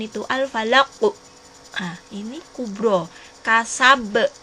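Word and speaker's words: كسب: Nah, ini kubro, kasab. Tulisannya kasaba, tapi kita bacanya kasab.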